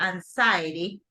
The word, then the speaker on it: anxiety: correct anes notice yes this is a tricky pronunciation okay but basically we say like this anxious you can say like this anxious that is the the correct priation but you know when you're talking about no aners but you're talking about anxiety this is it has a different pronunciation right here will be anxiety anxiety so when you